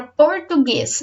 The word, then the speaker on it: português: sílabas português vamos lá qual é a sílaba mais forte será que é português será que é português ou será que é português essa é a sílaba mais forte a sílaba tônica o guês que também tem acento